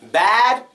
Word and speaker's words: bad: mouth when I say bad and when I'm saying bad this is stressed bad and this isn't stressed bad now when I say bad my mouth is open bad it's like you're screaming it I don't like bad